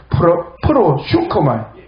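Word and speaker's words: προσεύχομαι: 프로쇼코마이. 말이 발음이 좀 어렵습니다. 프로슈코마이.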